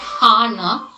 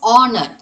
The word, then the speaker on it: honor: And I would like to end uh these words like the burger and uh it is not honor, h has to be silent, so it is honor. Aw aw sound, okay?